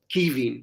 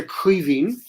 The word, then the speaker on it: Caoimhín: Caoimhín or Caoimhín, is it? Caoimhín, yeah, no, because my brother's Kevin and Aye. we'd say Caoimhín down here, it's a big guttural, C.